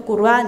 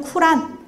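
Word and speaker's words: قرآن: 어 발음이 여러 가지예요 그니까 원래 아랍어 본래 발 발음으로는 안이라고 이야기를 해야 되거든요 꾸안 이렇게 하게 되는데 이걸 이제 영어식으로 하게 되면은 쿠란 그래서 코란이 되는 거고요 그래서 꾸란 코란 꾸르안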